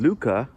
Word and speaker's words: Lykke: I've mentioned this book before, but there's a book called Luca that's spelled Lykke by the writer Mike Viking.